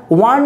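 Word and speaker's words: one: রয়েছে তা হচ্ছে যে last week I dash ওয়ান day match between India and Australia তো এখানে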